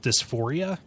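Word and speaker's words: Dys4ia: interactive essay uh uh than anything it's called dysphoria uh it's spelled D Ys uh the letter the number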